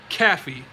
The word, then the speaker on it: Caffey: Spelled like Kath, no, spelled like this. Can you see this? K-A-F-I-E, Caffey.